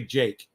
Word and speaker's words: Jikh: His name is spelled Jikh, Jake. Andre Jake, and it's Andrei, Andre, space Jikh. All right, that's how you spell his name. It's pronounced Andre Jake.